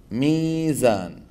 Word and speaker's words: ميزان: مثلا ميزان، ميزان أصلها ميوزان لأنها مشتقة من وزانة، فإذا هي ميوزان، فلما سكنت الواو وانكسر ما قبلها قلبتها العرب ياء.